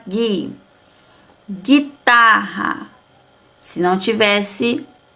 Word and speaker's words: guitarra: Guitarra. Se não tivesse o U aqui, ia ficar o quê? Guitarra. Mas como tem U, é guitarra. Mas também não pronunciamos a vogal U.